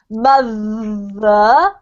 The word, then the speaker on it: mother: you see the difference so if we say thank you no voice but if we say mother voiced okay okay is that